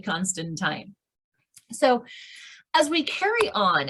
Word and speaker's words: Constantine: my name correctly because so many people look at it and say constantine and in fact it is actually constantine so as we carry